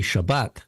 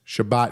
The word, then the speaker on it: Shabbat: a saric would be Shabbat Shabbat right with the accent on the last syllable but there spelling it